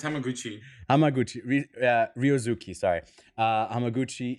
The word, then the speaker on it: Hamaguchi: did I say I think I said his name wrong what's his name yeah no it's hamaguchi hamaguchi uh Ruki sorry uh hamaguchi evil does not